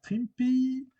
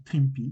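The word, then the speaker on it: Trimpe: un dessin de herb trimpy il paraît qu'on dit trimpy donc moi je dis trimpy air TRM airb TRM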